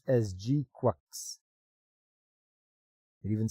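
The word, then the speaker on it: GQuuuuuuX: So Mobile Suit Gundam GQ is pronounced as GQux.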